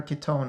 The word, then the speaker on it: Kitone: Oh wait, you're as- calling her Kitone now too? Like, what the fuck, Muspel? It's correct.